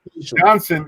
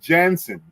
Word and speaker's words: Janssen: This is the misunderstanding that the world is having because they pronounce Johnson instead of Janssen. Janssen sounds to me like they're from Finland, or it sounds like a Nordic name.